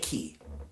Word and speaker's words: Ki: I am declaring a new planet name, and I am changing it to Planet Key. That is spelled K-I.